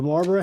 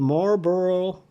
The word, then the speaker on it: Marlborough: So that is the Marlborough, and it's not spelled, it's spelled like a burro, like, you know, a burro donkey or a burro that you live in.